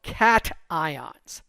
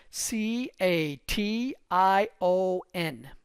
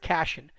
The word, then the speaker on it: cation: what positive charged ions are called they're called cat ions c a t i o n so cat some people pronounce it cashion it's cation i c a t i o